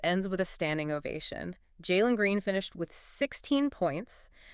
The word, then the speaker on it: Jalen: And for anyone keeping track of the pronunciation, that is J-A-Y-Lin Green. The Jalen Green Experience.